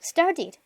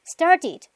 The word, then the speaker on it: started: Y se pronuncia como id, ese pasado. Started, started.